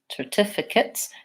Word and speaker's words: certificates: really quickly we had the word certificates and so though we start with an S sound even though it's spelled with the C we have our file or we have a file if twice and then a schwa and a TS so stress on the tip so TIF Achatz certificates it's almost like there's no